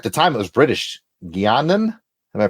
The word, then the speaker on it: Guiana: Guianan? Am I pronouncing? It's spelled differently, so I imagine it's slightly. It's pronounced the same, British Guiana.